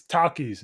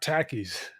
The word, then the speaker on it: Takis: take issue with the way you guys are pronouncing this it's Takis not Takis oh okay yeah that's right this is my